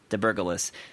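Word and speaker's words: Debergalis: But the founder of Meteor, is it Matt DeBurgalis? Yeah. How do you say that? DeBurgalis.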